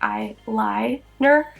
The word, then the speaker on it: Eye-Lie-Ner: It is spelled like I and then L-I-E Ner, so like Eye-Lie-Ner.